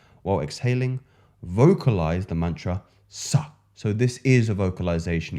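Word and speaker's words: सः: You notice I'm not going ha. It's sa. You're really pronouncing that. You're feeling the force of the prana moving through the teeth here.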